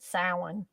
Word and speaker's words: Samhain: That's the actual pronunciation of it, Samhain.